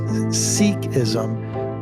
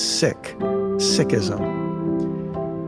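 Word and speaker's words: Sikhism: friend her name is Valerie core many people pronounce the name of her religion as seism but Valerie taught me that its proper pronunciation is sick sism in our last episode I introduced you to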